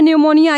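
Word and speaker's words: pneumonia: बाद से आता है न्यूमोनिया ये एक प्रकार का बीमारी है इसमें भी देखिए पी के बाद से एन आया हुआ है ठीक है इसलिए हमारा पी यहां पे क्या है साइलेंट है उसके बाद से आता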